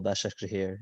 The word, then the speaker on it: Başakşehir: I know for a fact the last group I definitely mispronounced the third team, but Istanbul Başakşehir is definitely the correct All right, ladies pronunciation.